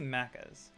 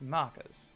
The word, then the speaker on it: Maccas: how to say it because you say maccas it's macas yeah I didn't know